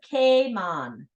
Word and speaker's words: Cayman: name Kamas evolved into Cayman and we've been calling our islands that ever since did you know the proper way to pronounced Cayman is Kon think of it as a rhyming with hon okay Kon all right